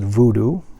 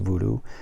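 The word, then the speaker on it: Woodoo: and there is the German title which is pronounced voodoo they pronounce their W is as a heart v in Germany so it's a voodoo and this is a media book from xt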